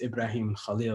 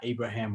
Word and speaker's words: Ibrahim Khalil: intentional he is about people pronouncing his son's names as ibrahim khalil not abraham or khalil stuff like that i